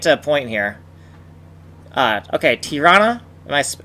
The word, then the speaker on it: Tirana: Okay, Tirana? Am I pronouncing that right? Tirana, yeah.